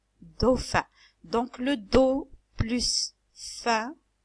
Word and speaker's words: dauphin: s'appelle le dos fin le pH se prononce comme F do fin do fin dauphin donc le dos plus